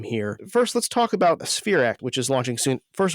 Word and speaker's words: SPHEREx: First, let's talk about SphereX, which is launching soon. First of all, am I saying that acronym correctly? Yes, SphereX is the way we pronounce that acronym.